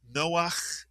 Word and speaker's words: Noach: The first syllable is no, the second syllable is ach. Put the word together. Noach is correct.